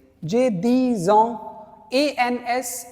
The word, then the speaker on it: ans: A-N-S is years. And this is pronounced as on.